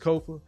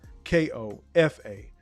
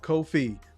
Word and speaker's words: Kofa: Once again, I've been your humble host, Kofa. Kofa. Not coffee, not kufu, not Kofi, or any variation thereof. Kofa rhymes with sofa.